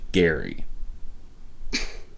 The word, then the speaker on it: Gerry: term though comes from a man named elbridge gary that's right gary i don't actually know why the pronunciation changed but that happens all the time